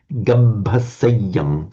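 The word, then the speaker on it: gabbhaseyyaṃ: There's just a bit more attention to the doubled consonant. Gabhaseyam.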